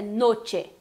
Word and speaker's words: noche: I, como muitas vezes a gente faz em noite, fala noite, por exemplo, né? Então não pode acontecer isso, é noche mesmo, ok?